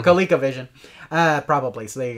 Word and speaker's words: ColecoVision: let's see on my colloquial vision back in 84 or our total playing adventure yeah that's where i played it a lot on yeah coleco i always say it wrong so colecovision uh probably so there